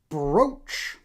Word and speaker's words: brooch: Another brooch. I really have to stop and think. It's spelled brooch, but brooch. Say brooch. Say brooch. Otherwise, you sound like an idiot.